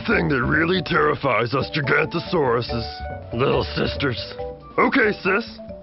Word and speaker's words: Gigantosaurus: I'm Gigantosaurus, the longest meat-eating dino who ever lived. You say my name like this, Gig-ant-o-saurus.